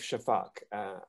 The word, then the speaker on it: Shafak: I happen to know Elif Shafak, if I'm saying her last name correctly, who I think is a genius. Evet, çok doğru söylüyorsun. Yes, correctly. You're pronouncing correctly.